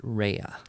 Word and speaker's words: Ria: Mr pwa sincerely Ria she gave me a pronunciation code for her name which I think probably it's pronounced rehea oh okay R AE hyphen u h okay PS1 oh dear